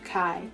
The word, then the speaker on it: chi: is actually the greek letter chi which is pronounced chi and that is the first letter of the